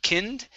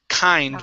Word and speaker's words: kind: much better okay uh this word is pronounced kind instead of kinned kind words kind good one more time kind kind good and let's go to